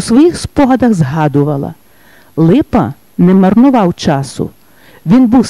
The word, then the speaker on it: Липа: «Ви знову до мене, майбутнє медично, світило ім'я Ліпа?» На що дістав гідну відповідь Юрія. «Прошу шановного професора, але моє прізвище пишеться і читається саме так – Липа».